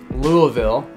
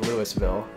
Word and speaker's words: Louisville: From Kentucky, Louisville, not like how we pronounce it here, which is Louisville.